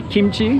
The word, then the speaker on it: kimchi: kimchi sorry I think I might pronounce it kimochi sometimes because that's the Japanese pronunciation kimochi kimochi I know it's supposed to be kimchi but I forget that that's how it's pronounced in English so you might often hear